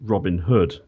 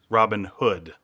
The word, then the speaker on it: Robin Hood: business who lived there it's not called Robin Hood it's called Robin Hood Robin Hood yeah so otherwise you put the emphasis on the wrong syllable basically yes that is also one